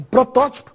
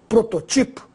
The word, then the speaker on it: protótipo: O mesmo vai acontecer também com protótipo. Você tem que pôr o acento no segundo O, porque ela é proparoxítona. Protótipo, sem acento, eu teria que ler prototipo.